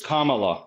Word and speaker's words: Kamala: about his um defense it's Kamala Kamala is a pronunciation get under your rock